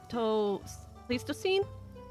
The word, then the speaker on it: Pleistocene: During glacial periods of the Pleistocene?